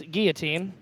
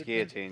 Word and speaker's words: guillotine: pronounce guillotine or Guillotine you take that silent L you just it's Guillotine it's Guillotine yeah that's the guy